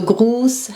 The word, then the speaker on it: Gruß: So Gruß has a long U, and grüßen has a short vowel, so you write the double S.